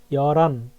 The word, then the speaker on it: 열한: এখানে উচ্চারণের কিন্তু পার্থক্য আছে। এখানে আবার সেম সংক্ষিপ্ত রূপগুলো বসবে, ঠিক আছে? হান, দু, এভাবে। 11কে কি বলে তাহলে? ইয়রান 열한, বা 열한, ইয়রানা, ইয়রানা, ইয়রান, ইয়লদুল, ইয়লদু।